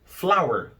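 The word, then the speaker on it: flour: são incontáveis por exemplo flower isso mesmo a pronúncia de farinha é a mesma pronúncia de flor a escrita é diferente mas a pronúncia é exatamente a mesma flower você não vai contar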